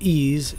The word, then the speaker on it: EES: EES pronounced ease is an acronym for